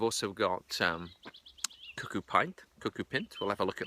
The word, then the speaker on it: cuckoo pint: at least I always used to call it cucko pint till I recently discovered you should pronounce it cucko pint and pint is short for pincel shut up